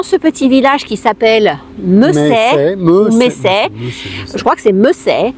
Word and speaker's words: Messeix: Alors ça s'écrit M-E-2-S-E-I-X, mais on dit Messey.